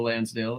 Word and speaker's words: Lansdale: Hotel by Cameron by Joe Lansdale which rhymes with hands hands Dale yeah you know I